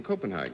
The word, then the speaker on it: Copenhagen: Your mother runs one in Copenhagen.